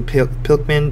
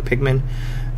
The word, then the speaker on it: Pikmin: But, uh, you know, they're getting a new Pilman Pikmin. Sorry, I said it wrong. Pikmin.